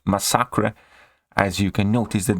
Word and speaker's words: Masacre: it would be called Massacre but he's from Mexico he's Spanish and his name is properly pronounced as masakra as you can notice